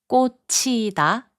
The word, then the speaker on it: 꽂히다: 꽂히다, which means to be stuck, is pronounced as 꽂히다.